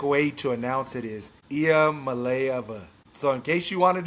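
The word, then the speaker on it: Iamaleava: Nico, the phonetic way to announce it is IA Malaya. So, in case you wanted to know how to pronounce it, it's not going to even attempt it.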